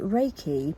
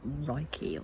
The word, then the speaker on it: Reiki: i didn't know what it was um so reiki pronounced as in the way i'm pronouncing it although it looks like you might pronounce it reiki or something can anyway reiki is a complete